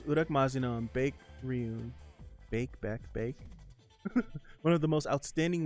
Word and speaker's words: Baek: It's Bake. Okay. Bake. I never knew how to pronounce that name since like Tekken 2 or Tekken 3.